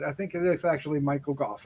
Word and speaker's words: Michael Gough: Michael Gough, who I've pronounced Michael Go most of my life, but I think it is actually Michael Gough, right?